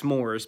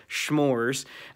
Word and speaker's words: s'mores: I just realized schmores. I think they're pronounced s'mores, but today they're schmores.